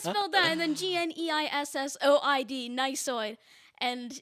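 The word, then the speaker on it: gneissoid: actually got it so the silent g to start the word i mean and then not only that there's an e-i and then there's a double s yeah i'm done i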